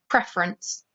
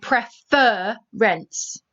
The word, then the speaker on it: preference: about reading this word preference preference now we don't say prefer rents therefore we only have one r okay the same if the first syllable is not stressed just like i said